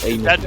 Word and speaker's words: Heineken: You mean Heineken, as I've always called it? Yeah, Heineken or Heineken, I don't know. Yeah, in French, I pronounce it Heineken.